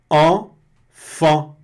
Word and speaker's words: enfant: Vai ter o mesmo som. Enfant. Observem, é a mesma pronúncia. Enfant, na mesma palavra, escrita diferente, aqui uma com EN e a outra com AN. Muito louco isso, mas é a mesma, exatamente, enfant.